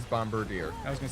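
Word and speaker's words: Bombardier: Earnest the bombarder and I did not mispronounce Bombadier it is bombarder I was going to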